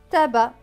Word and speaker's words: tabac: le mot tabac et dans le monde tabac le sait à la fin ne se prononcent pas tabac plus loin est-ce avec